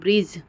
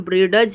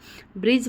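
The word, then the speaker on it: bridge: जरूर कमेंट में लिखिए ब्रिज मतलब ब्रिज में डी का उच्चारण नहीं हो रहा है तो डी जैसे ही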